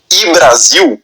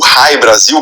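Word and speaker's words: Hy-Brasil: De forma que até hoje quando se fala dessa ilha Brasil, geralmente se fala de I Brasil ou Hai Brasil, como alguns pronunciam, né? Mas é é o I.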